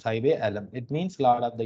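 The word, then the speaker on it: Saheb-e-Alam: Sai Bealam, you have to pronounce Sai Bealam.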